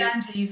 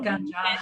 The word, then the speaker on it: Ganges: So that would be Ganges, actually, the Ganges, not Ganja. The Ganges. Okay, the Ganges River.